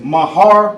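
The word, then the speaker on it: מהר: How you say it in the Hebrew is mahar, mahar.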